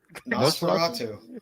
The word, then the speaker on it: Nosferatu: Nosferatu.